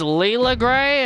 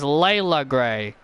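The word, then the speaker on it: Leila Grey: ] Jade Cargill yeah I've been pronouncing her name as Leela gray and after watching one of her matches they pronounce it as Layla they actually pronounce it as Layla Gray which doesn't make sense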